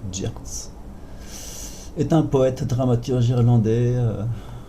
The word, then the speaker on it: Yeats: Yeats, pardon. Alors, William Butler Yeats, prononcé Yeats, est un poète dramaturge irlandais.